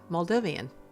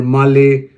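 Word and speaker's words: Malé: pronounced as m m the pronunciation is not mal or Mali or M the pronunciation the correct pronunciation of the capital of males is Mali okay so we'll go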